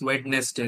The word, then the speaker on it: Wednesday: there are many words they mispronounce, like Wednesday, right? So they mispronounce. Wednesday. Also, our teachers have taught us like this Wednesday, right? Yeah, we But are it's taught like like that. Wednesday, right? The D won't come here.